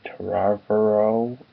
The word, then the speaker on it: Trevorrow: But supposedly, the director's supposed to be Colin Trevorrow. I think that's how you say his name. It's like Trevor and Tomorrow put into one.